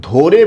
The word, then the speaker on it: ধরে: তাহলে এটা একটা অসমাপিকা ক্রিয়া, আমি মাছ ধরে বাজারে যাব। তাই একটু খেয়াল করতে হবে, এখানে আছে কিন্তু ধ, কিন্তু আমরা উচ্চারণ করি কি বলুন তো? উচ্চারণ করি ধো।